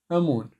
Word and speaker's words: آمون: تطق همزه مع الميم مع الواو مع النون امون وقلنا ان حرف المد البين ده اذا احتجناه بننطقه الحرف البين اللي انا بحطه تحته خطين